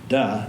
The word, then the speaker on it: De: du looks like d it's spelled D E but it's pronounced du and this is the